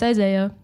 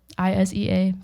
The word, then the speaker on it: Isea: So probably, yeah, it's Isea, Isea, super simple.